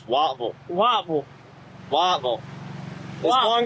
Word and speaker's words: Whiteville: It's spelled Whiteville, but down there it's Wattville.